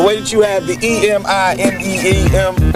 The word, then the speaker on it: Eminem: He took his initials M and M Marshall Mathers, spelled them out phonetically, Eminem.